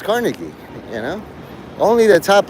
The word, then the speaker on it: Carnegie: And hearing those three talk and they're like, I realize they know how to pronounce Carnegie Melon University. Some people say it cargi, but it's Carnegie.